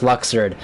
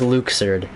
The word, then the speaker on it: Luxord: was pronounced luxord I'm pretty sure everyone in kingdom hearts of the community unanimously decided that it was pronounced luxord but unfortunately if you were all here telling me to go and it is pronounced Luke surd which makes sense based off the katakana but also it's really